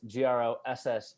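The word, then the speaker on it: Grosse: I'm on Instagram gross G ro SS e yes is pronounced like the word gross not gross say it's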